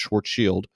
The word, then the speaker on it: Schwarzschild: called the Schwarzschild radius I know it looks like Schwarzschild but it is actually pronounced short shield and this is the